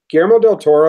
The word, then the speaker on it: Guillermo del Toro: If Guillermo del Toro, is that how you say it? Yeah.